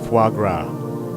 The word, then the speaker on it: foie gras: of the day how do you pronounce oh foie gras the correct pronunciation is foie gras and now back to Lala after trying various